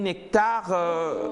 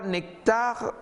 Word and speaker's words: Nek'tar: Bonjour la famille Nectar. Je me demande pourquoi Nectar s'écrit avec un K apostrophe T-A-R.